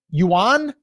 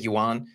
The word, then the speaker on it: yuan: I mean, 10 billion yuan. Is that how you say that? That's what we're going to go with. Anybody who speaks Chinese can yell at us in the comments and give us the pronunciation of that. But I'm going to go with yuan.